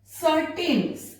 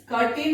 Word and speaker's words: certain: सर्टेन, कर्टेन नहीं होगा, ये क्यों नहीं होगा,